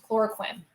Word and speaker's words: chloroquine: malaria when they were deployed and they sieved chloroquine did I pronounce that right cuz I like all our